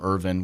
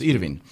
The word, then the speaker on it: Irvin: Start changing, going from Irvin, which I've used my entire life, to the way that my mom intended it for it to be pronounced, which is Irvin.